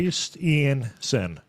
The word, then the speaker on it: Christiansen: Christiansen. Christian like the religion, S-E-N. And the thing about Christian like the religion, there are two I's in it, but this imposter has only one. It's Christiansen, like some kind of psychopath, presumably an Indian.